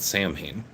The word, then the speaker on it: Samhain: If you look at the term, a lot of people practice what's called Samhain. Some people pronounce it Samhain.